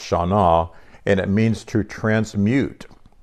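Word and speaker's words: Shannah: So I found Hebrew, the Old Testament 81:38 word, Shana, S-H-A-N-N-A-H, and it's pronounced Shana, and it means to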